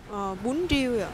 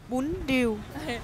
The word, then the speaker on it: bún riêu: 이게 음식 이름이 좀 엄청 독특한데 하노이에서는 어떻게 발음하죠? bún riêu. bún riêu. 네, 그리고 또 호치민에서는 bún riêu.